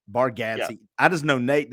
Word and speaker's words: Bargatze: I love Nate Barsgatti, however you say his name. I can't ever say his name. Bargatze.